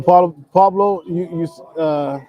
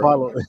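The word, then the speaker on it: Paolo: But no, Pablo, I don't know, Cam, man. Like Cam, you're acting like that white dude at the Kentucky Derby. It's Paulo Banchero. Paulo. Say it right, man.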